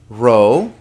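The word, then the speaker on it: ρ: We pronounce it P. So P, rho, sigma, tau, upsilon, not but oo.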